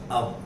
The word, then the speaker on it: of: OF is always pronounced as अब.